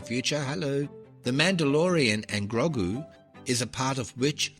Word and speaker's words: Grogu: And she went to a lot of trouble to school me in the pronunciation of it and it's Grogu. She said Grogu, you got to drop the kind of goo. So, Grogu with a drop goo.